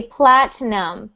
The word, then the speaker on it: platinum: great next sound platinum so we pronounce that word with no i sound we ignore the i we don't pronounce it we say platinum platinum platinum platinum good